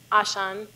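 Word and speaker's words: Auchan: This was my favorite grocery store, and it's pronounced Ashan, I think, in Russian.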